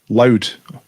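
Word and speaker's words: Louth: It's pronounced loud.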